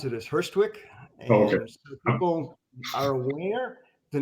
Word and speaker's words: Hurstwic: to being what you do okay sure we pronounce it as first Twix folders the name is just made up and